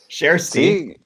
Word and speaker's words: Kjersti: the UH so yeah we learned how to pronounce her name cher see yeah I nailed that in the intros you